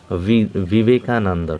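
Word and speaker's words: Vivekananda: ঠিক আছে, বিবেকানন্দ, এখানে বিবেকানন্দ হবে, কিন্তু আমরা বিবেকানন্দ বাংলায় উচ্চারণ হলেও কিন্তু বিশেষ বিশেষ যারা খ্যাতনামা ব্যক্তি, বিশেষ বিশেষ ব্যক্তিবর্গ, প্রপার নাউন, তাদের ক্ষেত্রে কিন্তু ভি দিয়ে শুরু হবে, বিবেকানন্দ।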